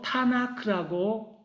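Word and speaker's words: Tanakh: 그랬을 때 K, 그 글자의 첫 글자를 따서 타나크라고 발음합니다.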